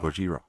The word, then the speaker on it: Gojira: And you've got Ken Watanabe, like where he speaks perfectly acceptable English until he has to pronounce Godzilla and goes Godzilla. Gojira.